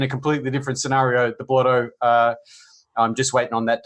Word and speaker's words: Blotto: the rest of the world on how to pronounce this word. It is Vaping Bogan and Dovpo collaboration, Blotto with double D's.